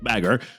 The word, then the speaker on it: baka: Zoro challenges Mihawk to a fight and Nami's like, "Zoro, you baka," pronounced bagger, "you're going to die."